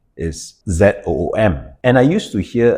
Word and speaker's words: Zoom: It's actually not Zoom. It's actually called Zoom. Z with a Z, right?